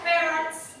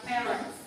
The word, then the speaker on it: parents: Untuk apa namanya pengucapan parents, jangan parent, but parents. Brother, sister, and parents.